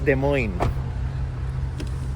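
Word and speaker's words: Des Moines: capital na sa demoin yan ang tawag is demoin an ni-research pa namin ni yung ano yung pronunciation ni Demoin.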